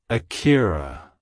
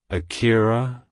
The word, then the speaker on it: Akira: in Japan and popular in English-speaking countries it's pronounced as Akira Akira Akira to pronounce it correctly emphasize the first syllable